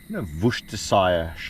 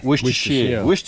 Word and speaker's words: Worcestershire: We got some decent porterhouse steaks, a few of them, because I want to try the, Worcestershire, how do you say that shit again? Worcestershire.